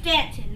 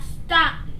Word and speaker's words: Staunton: Our city is pronounced Stanton, not Staunton. If you say Staunton, everyone will know that you're from out of town.